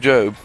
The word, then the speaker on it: Job: it's the Book of Job and it is about a man named job and it's spelled job but it's job so don't call him job cuz he's not job he's job and his story is a